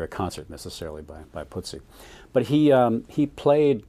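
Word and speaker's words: Putzi: of kind of a nice little moment uh putsy that's the way you pronounce it yeah Ernst Sedwick hangle nicknam putsy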